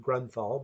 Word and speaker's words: Grunthal: that is Grunthal, which is pronounced Grunthal, but it kind of looks like Grunt Hall, which I guess is what you'd have if you let two pigs into your hall.